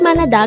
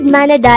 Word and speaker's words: 만나다: means to meet the word manada could be divided into three syllables is formed from